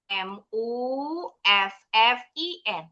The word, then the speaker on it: muffin: Muffin pakai u. M m u f f i n. Muffin. Pengucapannya pakai a. Tulisannya pakai u.